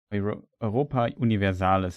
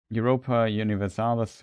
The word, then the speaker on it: Europa Universalis: Europa Universalis in German, I would always say. But yeah, pretty. Europa Universalis, what I pronounce it in English.